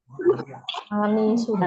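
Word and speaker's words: أنس: Anasun. Anis. Anis orang Indonesia ya. Anis Baswedan bukan. Ini Anas. Bukan Anis ya. Kalau Anis ada ya-nya, Mahat. Anis. Nunnya ada ya-nya. Setelah nun ya. Kalau ini Anas.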